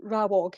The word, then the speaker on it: Rawog: And just to clarify, are you happy that I call your group Rawog? Is that how you pronounce it, how you say it? Yeah, okay, perfect.